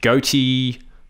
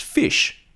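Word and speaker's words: ghoti: I'm betting you tried goaty, or gahotty, maybe gooty? You might be surprised to learn that our class pet's name, G-H-O-T-I, is actually pronounced fish.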